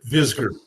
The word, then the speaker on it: Visger: I say your last name right you did vizard good I've not been known to pronounce names sometimes unless it's Bob or Janet